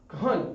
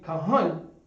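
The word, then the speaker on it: כהן: So you would leave off this a and just pronounce that n.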